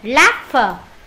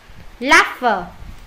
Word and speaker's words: laughter: Câu D, laughter. Laughter. Nó là chữ F luôn các bạn nhá.